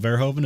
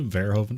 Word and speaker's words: Verhoeven: um the way i like to remember how it's spelled verhoeven is vero v-e-r-h-o and then even at the end verihoven effect um so this has been the vero